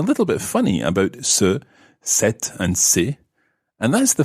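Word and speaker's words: cet: man the male student the masculine word it's set c-e-t and for the female student is set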